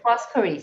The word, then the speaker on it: Foscari: I hope I pronounced that correctly. And before, how's it? Foscari, sorry.